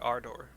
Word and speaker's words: Ardor: worlds rejoined that was a r d as in delta o r r i i pronounce it ardor ardor Arda the order